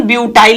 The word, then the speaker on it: ब्यूटील: ब्यूटील, ऐसे ब्यूटील और फिर लिखा जाता है क्लोराइड। प्रोनाउंसिएशन ब्यूटाइल ही होता है, हिंदी में ऐसे लिखा जाता है ब्यूटील।